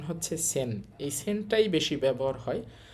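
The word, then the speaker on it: 千: এটার নাম কি দেখেন এইটার কুনিয়মী বা জাপানিজ উচ্চারণ হচ্ছে চি আর অনিয়মী। তিনা উচ্চারণ হচ্ছে সেন।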